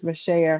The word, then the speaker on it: Meshaya: My name is Meshaya, her name is like Misha, but our names are spelled like the same way, except I have a